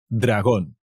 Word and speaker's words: dragón: a Dragon un dragón acent on the un dragón pronto veremos más capítulos del Game of thrones